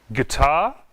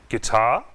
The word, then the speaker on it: guitar: Guest, guitar, building. Observe, não pronunciamos a letra U nessas palavras. Guest, guitar, building.